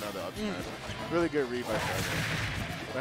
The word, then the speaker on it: Shangrai: Really good read by Shangrai. But how do you pronounce his tag again? Shangrai. Shangrai? Shan? Like Shan? Like okay. Shan Yu almost? But Shangrai. Shangrai. Almost like Shanghai, but like Shangrai.